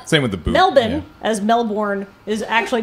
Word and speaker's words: Melbourne: with the belden as melbourn is actually correctly pronounced you take out all of those extra vowels and you throw them in the trash was once they like